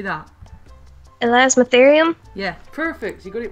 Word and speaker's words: Elasmotherium: Elasmotherium? Yeah, perfect. You got it right. Awesome. That's Elasmotherium.